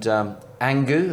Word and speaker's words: ANGU: really, Richard, that's where you and ANGU, have I got the pronunciation? You have indeed. That's perfect. Goodness. Well done, Johnny.